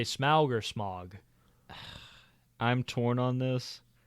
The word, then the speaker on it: Smaug: But I do think Smaug sounds cooler than Smog. Because Smog just sounds like smoke. Yeah, smoke fog. Yeah. Yeah, that's so fair. We'll say Smaug. Yeah. Canonically on Cool. Oliphaunts Motorcycle Club, the pronunciation is Smaug.